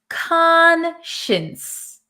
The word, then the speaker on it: conscience: first we pronounce it conscience con so even though it looks like science here we're going to say Shin Shin conscience okay so